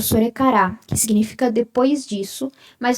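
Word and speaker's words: それから: Aqui se lê sorekara, tá? O S sempre vai fazer um som suave, O R sempre vai fazer esse som de ire, ele nunca vai fazer,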